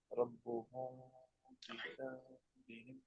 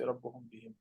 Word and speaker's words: ربهم بذنبهم: This is actually إخفاء, right? إخفاء شفوي. ربهم بذنبهم. So you don't go fast here. Don't say ربهم بهم. You have to mark at least some غنة of 2 حركات. جزاك الله خير.